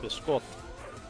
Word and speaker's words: biscotti: I do like biscotti, although it's pronounced biscotti.